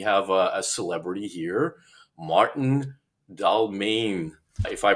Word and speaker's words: Dalmijn: We have a celebrity here, Maarten Dalmijn. If I pronounced your last name correctly, I know we practiced this a few times before we got started.